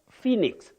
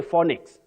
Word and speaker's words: Phoenix: Ying not y yach Phoenix don't say phix and don't say phix you say Phoenix M potato crisps potato